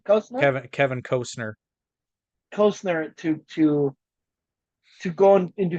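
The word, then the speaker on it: Costner: the an I said by the way it's pronounced Cosner and then I just walked out because she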